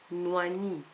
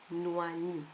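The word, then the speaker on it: nwani: que j'ai donné avant noani le chignon qui s'écrit n W A n i on pourrait aussi l'écrire nu a n I et la prononciation serait identique N noani un autre exemple moici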